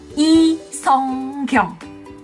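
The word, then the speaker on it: Lee Sung-kyung: Pertama dari marganya, yang aku bilang bukan Lee, tapi I. Bukan Sung, tapi Song. Di Korea bacanya Song. Yang terakhir juga bukan Kyung tapi Kyung. I Song Kyung.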